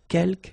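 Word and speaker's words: quelques: Uh, you don't pronounce the final s here. Keelk means few.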